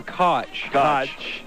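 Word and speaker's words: Koch: or cotch? It's cotch. Okay. Wasn't sure how to pronounce it.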